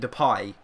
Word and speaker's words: Depay: from there pinho mate I must remember to call him depay because that is actually his pronunciation I have no idea why for so many years I've called him the pay it's just the way it's spelled I suppose and a